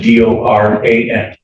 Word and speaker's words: Doran: Spelling on the last name is D-O-R-A-N. And it's pronounced Doran.